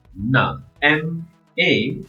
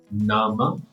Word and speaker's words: nama: m a so n a is very good NA M A is ma now we combine this which is Nama if you pronounce it in one word n a noun